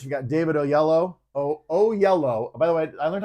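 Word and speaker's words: Oyelowo: how to say it it's yellow with an O at the beginning and an O at the end oh yellow okay I'm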